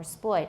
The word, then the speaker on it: exploit: The stress is on the second syllable, ploit, or exploit.